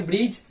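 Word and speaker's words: bridge: उसी तरह से यहाँ देखिए डी के बाद जी आया है तो यहाँ पे भी डी साइलेंट हो जाएगा, इसको हम लोग पढ़ेंगे ब्रिज।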